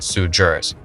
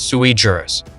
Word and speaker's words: sui juris: He insists on saying sujurus when in reality it's sui juris, a Latin phrase that ironically translates to something as absurd as crayon cruncher.